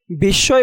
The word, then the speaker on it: বিস্ময়: বিস্ময় বানানে শব্দের মধ্যখানে দন্তস্বয়ের সাথে মফলা যুক্ত হওয়ায় দন্তস্বয়ের উচ্চারণ ২ বার হয়েছে, যদিও তোমরা দেখতে পাচ্ছ